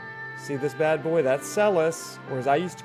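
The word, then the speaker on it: Celes: That's Celis, or as I used to call her, Seals. We love pronunciations around here.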